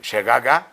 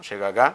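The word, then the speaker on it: שגגה: Fíjese que esa palabra accidente, ahí usted la puede anotar, la palabra 7684, eh, shegaga, no, shegagá con acento en la A.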